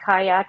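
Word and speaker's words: Qajaq: absolutely delicious there's another greenlandic beer called the kayak but they spell it q-a-j-a-k-a-q-a-k-a-q and that was another delicious IPA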